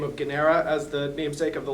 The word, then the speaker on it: Guarnera: It's a hard G versus a gua sound. It's a silent R in the middle, much like I have silent G's and H's in O'Shaughnessy.